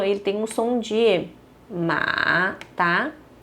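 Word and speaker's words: 吗: um ponto de interrogação, mas ainda assim a gente usa o ponto de interrogação, tá? Então esse aqui é como se fosse um ponto de interrogação, tá? E a sua pronúncia também é ma.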